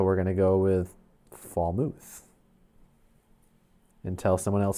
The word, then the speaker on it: Falmouth: Muth, or is it Muth? I would say Muth. Okay, Daniel's saying it's Falmouth. Falmith.